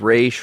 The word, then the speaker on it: Ra's: Yeah, I only say Ra's because Denny O'Neil, who created Ra's al Ghul, always says in interviews, he always calls him Ra's.